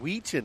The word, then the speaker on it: Weechin: Oh, Tim Weechin. Okay, that's how you say it. Ah, I like that better. Weechin. I was saying Wyken. I mean, you can say Wyken too.